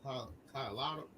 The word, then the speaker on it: Colorado: They was in Denver, Colorado. I butchered that all completely, but they were in Denver.